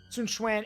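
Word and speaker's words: Sun Quan: or it's Sun Sunan is how you say Sunan and xyu that led to the famous Battle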